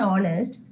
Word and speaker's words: honest: like our honor and honest as the letter H is silent the next alphabet is